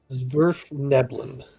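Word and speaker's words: svirfneblin: No, Oh, they have Sniverlibin or something like that. I don't know how to say it either. it's Zwerfneblin.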